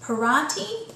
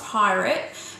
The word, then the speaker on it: Pirate: Although it's spelt pirate, from what I know, it's pronounced pirati or pirati, something like that. So it's not pirate, but it's a beautiful